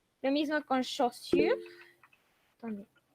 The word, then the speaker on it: chaussures: Lo mismo con chaussures. Attendez. Chaussures, que son los zapatos. Chaussures, d'accord? A U se pronuncia como O. Y la U simple, U.